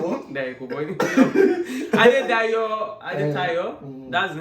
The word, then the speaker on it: Adetayo: Adetayo. That's the name. Adetayo. But they kind of make accents.